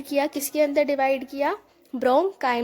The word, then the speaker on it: bronchi: तो होता क्या है, ट्रेकिया था, ट्रेकिया हमारा ब्रोंकाई में डिवाइड हुआ, ये होती है ब्रोंकाई की स्पेलिंग BRONCHI, ठीक है, ब्रोंकाई में डिवाइड हुआ, ये ब्रोंकाई और ये वाला ब्रोंकाई।